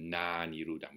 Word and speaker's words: nāniruddhaṃ: So to have eight syllables in the pada, the na and the aniruddhaṃ are joined in sandhi to na niruddhaṃ with a long A. So it's important that the A is long, otherwise it sounds like